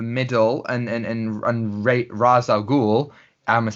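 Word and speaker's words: Ra's al Ghul: villain of the middle and and and ra raz al-ghul ahmad said rachael cool because that's the proper way of pronouncing it christopher nolan um he he's like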